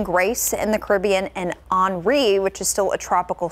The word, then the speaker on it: Henri: So I did double check, and it's Henri.